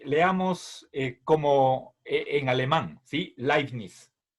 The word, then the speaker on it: Leibniz: El apellido de Leibniz, bueno, si nosotros pronunciamos como en alemán, entonces, por favor, el diptongo conformado por la EI en español se pronuncia AI, es como Einstein.